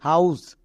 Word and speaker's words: house: তাহলে এর উচ্চারণ কি দাঁড়ালো? HOUSE, হাউস, একে আমরা হাউজ বলবো না।